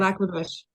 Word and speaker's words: Lac La Biche: Facebook page that you're originally from, was it Lac La Biche? Is that how it's pronounced? Lac La Yeah, Biche, Lac La Biche.